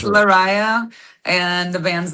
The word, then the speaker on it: Lariyah: Did I did Did I pronounce it okay? Cuz I hate If Oh, no worries. It's Larisa, and the band's name is Devinwahr.